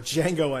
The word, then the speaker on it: Django: watch Django Unchained or Django Unchained the D is silent um but it's about